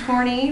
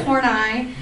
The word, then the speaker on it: Horney: kind of ironic because her name looks like it'd be pronounced horny but it's horn ey um she just she